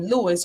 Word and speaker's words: Louis: Both had the same name, Louis, pronounced like the French.